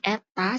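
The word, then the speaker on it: η: listrik dengan efisiensi generator seb besar efisiensi ini Eta cara bacanya maka P ama tinggal ditambahin efisiensinya berapa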